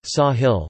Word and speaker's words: ساحل: The name is derived from the Arabic word Sahil, Sahel Arabic pronunciation, Sahil meaning coast or shore in a figurative sense